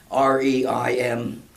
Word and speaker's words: Reims: know the pronunciation, but the city of Reims, R-E-I-M-S. I think it's the French pronounce it Reims or something like you're that.